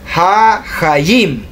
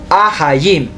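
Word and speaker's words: החיים: Dice ha-hayim, aunque es ahayim. Lo correcto es ahayim, pero yo por pronunciación pronuncio más hahayim, pero no es hahayim lo correcto, es ahayim.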